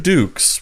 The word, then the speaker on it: Dux: So, Mr. Dukes, which we've now learned your name is pronounced, you said that you were able to eat 5,000 hot dogs in the span of a day.